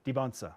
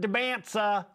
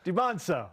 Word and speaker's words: Dybantsa: impact BYU basketball and that's the pronunciation with it we went over this de yes the t is silent debons debons okay educate yourselves it matters no you know it's not Deans it's or deaga it's debono okay at McGary 15